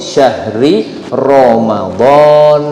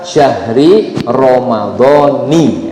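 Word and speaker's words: شهر رمضان: Nah, jadi itu ungkapannya betul kalau mau disebut syahri Ramadan. Nah, gitu ya. Ya, kemudian kalau mau diwakafkan dibacanya berhenti boleh fi syahri Ramadan juga boleh gitu. Yang salah apa? Syahri Ramadhani. Nah, kalau disebut ni itu malah salah gitu ya.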